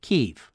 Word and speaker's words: Kiev: doesn't have the, and it's pronounced Kiev. So that's sold me. I don't want to pronounce it the Russian way. I would prefer to pronounce it the way they would like it pronounced.